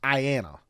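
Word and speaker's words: IANA: the internet Authority for names and numbers I pronounced Ayanna now most people get IP addresses from their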